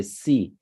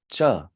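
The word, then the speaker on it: च: you see C right in English we would say C but here in Sanskrit you will pronounce this as cha not C becomes cha cha all right like chair so cha cha then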